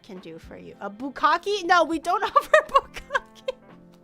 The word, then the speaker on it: bukkake: The pronunciation is bukkake, not bukkake.